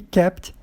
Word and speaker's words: kept: Mas não é regra, porque tem o keep na última coluna que você pronunciou o K. Então, keep e kept a gente pronunciou.